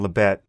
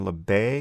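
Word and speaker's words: Libet: sorry i never know whether he pronounced his name benjamin labay or benjamin lebet he's no longer alive uh to to consult and i only ever see it written but i'm gonna go with lebet benjamin lebet who famously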